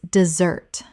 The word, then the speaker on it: dessert: Desert versus dessert. Desert. Des-ert, noun, the dry landscape. Or desert, verb, to abandon. Dessert. Dessert, the sweet course after a meal.